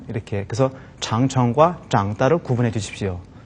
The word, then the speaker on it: 长城: 자, 장이라고 발음이 될 때는요, 길다라는 뜻을 가지고 있을 때 장이라고 발음이 됩니다. 그래서 장청 하게 되면 긴 성, 뭐가 떠오르세요?